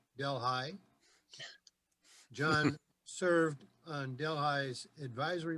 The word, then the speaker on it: Delhi: His education is as a graduate of the State University of New York at Delhi, pronounced Delhi.